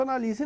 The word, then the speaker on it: analise: Análise, analise. Então vejam que aqui a sílaba tônica é a antepenúltima. Aqui é uma proparoxítona. Análise tem acento, analise não.